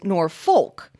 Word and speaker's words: Norfolk: hoy from smithfield virginia wrote about the different pronunciations of norfolk spelled n-o-r-f-o-l-k i was so delighted to hear norfolk virginia